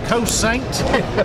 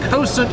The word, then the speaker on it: Cosaint: com or as we say in the south coast saints coast saint arms but they've corrected me on that that it's pronounced constant arms so i'll put a link in the